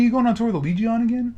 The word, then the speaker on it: Allegaeon: No, it's actually a lot easier than you. It's Allegion.